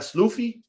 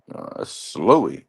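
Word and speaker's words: Sloughi: Isn't the Isn't the uh gh like a like tough? like he slies. Okay. Depend. Yeah. Can it can be that sound like in Lee. Yeah. GH makes several sounds.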